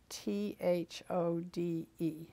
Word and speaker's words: Thode: all, if you will say your name and spell it like you would like it to appear on the. Okay. Thode, Thode. I'm glad you said that because I was just saying Thode.